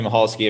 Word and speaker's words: Michalski: Is that how you pronounce her last name, Sarah? Michalski? Uh-huh. Yeah, Bethany Michalski.